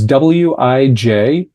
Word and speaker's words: Wijtenburg: Yeah, and that last name is German, you told me. Sorry, Dutch. Dutch, yeah. It's Dutch. So there is a J in there.